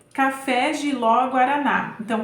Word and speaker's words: café: as três letra C café jiló guaraná então Café tem como sílaba tônica a última né que é o fé jiló é o ló